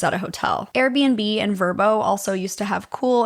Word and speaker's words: VRBO: Okay, I guess you're supposed to pronounce it Verbo. So, Verbos, whatever.